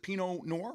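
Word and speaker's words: Pinot noir: Is it is it pino noir? I think that's how you say it.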